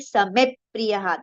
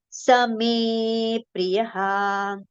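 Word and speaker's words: स मे प्रियः: It should not be Samep Priyaha. That will be wrong pronunciation. It should be Same Priyaha.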